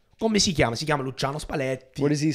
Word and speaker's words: Luciano Spalletti: He can't roll his L's. Luciano Spalletti. He can't do that. Come si chiama? Si chiama Luciano Spalletti.